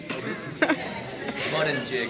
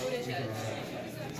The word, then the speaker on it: Buttigieg: How do you say this? Mud and jig. Okay, you gotta keep her close. So, this guy's name is actually Pete Buttigieg. He's a Democratic candidate in 2020 for president. Yeah, and this is actually like Buttigieg.